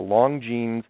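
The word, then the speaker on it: Longines: But there was a television show called The Long Jeans. I pronounce it right this time.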